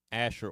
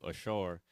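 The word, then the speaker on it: אשר: in Leviticus 5 and13 this Asher or Ashar in uh in Hebrew how it's pronounced in Hebrew Ashar this means this is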